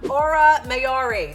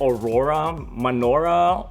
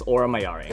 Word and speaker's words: Aura Mayari: joined by Nashville's own Aura mayari did I say it right absolutely it's either I get Aurora Menorah Aurora mayori but it's it's Ora mayari so tell me about